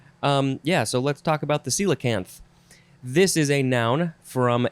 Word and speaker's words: coelacanth: So the first word, the real first word, is coelacanth. It's spelled fun.